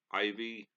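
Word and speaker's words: Ivie: looking at that name IV i e Ivy I do believe that might be how it's pronounced yes Mike Ivy one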